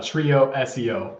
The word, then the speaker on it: TrioSEO: bit about um now is it trioo SEO or trioo how do you how do you say it it's a trio SEO we focus on SEO